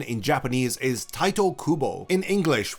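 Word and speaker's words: Tite Kubo: pronunciation in Japanese is Tito Kubo in English English with the way it is romanized it should be pronounced tight Kubo but people seem to really enjoy calling him titty Kubo or TI Kubo and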